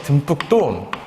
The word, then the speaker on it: 듬뿍: 자, 듬뿍 발음해보면 역시 듬뿍도 이 비읍이 된소리로 발음이 되거든?